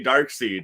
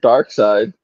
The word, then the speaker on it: Darkseid: Some people say Dark Seed. You see it in reviews and shit. No, but it's like the difference between. I think they even said it that way in like cartoons and shit too. Dark Seed, and I've never heard Dark Seed before. I've heard Dark Side in the cartoons.